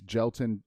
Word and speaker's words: Jelton: Mosh, MOSH, space Gelton, like Melton, JELTON, versus, and he's actually a battle rapper from the old school grind time days, and he grew up and stuff.